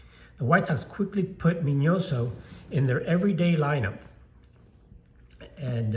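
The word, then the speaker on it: Miñoso: means that it's not minoso it's minoso and that's how you pronounce it in Spanish um he spent a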